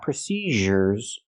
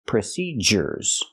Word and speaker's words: procedures: So again, the word is procedures, not procedures, and not procedures, it's procedures.